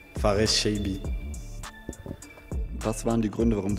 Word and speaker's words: Farès Chaibi: Sag uns doch zu Beginn einmal, wie wird dein Name richtig ausgesprochen? Faris Chaibi.